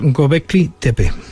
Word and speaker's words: Göbekli Tepe: Sí, esto se pronuncia más o menos Göbekli Tepe.